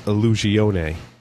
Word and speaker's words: Illusione: Was saying that it is Illusione. Okay. Yep. Yeah. Yep. With the E, with the little thing under it, is the A sound.